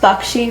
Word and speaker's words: Baxi: Well, Bakshi, uh B Axi is my last name. It's pronounced Bakshi, Rick, I think you were asking me.